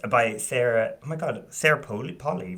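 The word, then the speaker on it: Sarah Polley: Oh my God, Sarah Polly, right?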